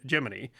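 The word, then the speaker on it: Gemini: 7th 1965 gmany 4 and yes NASA used the pronunciation giny the second crude giny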